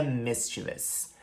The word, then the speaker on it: mischievous: é essa palavra aqui, que se pronuncia mischievous. Mischievous, mas que muito nativo pronuncia mischievous. Mischievous, eles colocam até um izinho onde não deveria colocar mischievous, mas a pronúncia correta é mischievous.